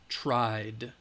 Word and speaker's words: tried: e the D alright tried alright this one this this regular verb in the simple past has the D sound at the end tried okay let's do